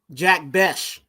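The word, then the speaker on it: Jack Bech: Okay, going to the second round, we picked up Jack Besh. Okay, that's right. That's how you say it.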